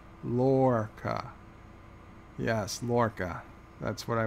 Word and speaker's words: Lorca: Commander Iron Wolf is telling me it's pronounced Lorca. Lorca.